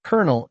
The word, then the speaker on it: colonel: Colonel and colonel are tricky. Colonel is a seed corps. Colonel is a military rank. These homophones puzzle many. The silent L makes it hard.